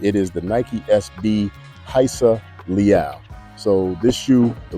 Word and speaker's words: Rayssa: to get and it is the Nike SB heisa Le so this shoe it looks like the name is Raa but it's actually pronounced heisa she's from Brazil 16 years old um Started